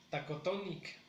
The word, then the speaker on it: tacotonic: Aquí lleva el acento en la tercera sílaba. Tacotonic, tacotonic.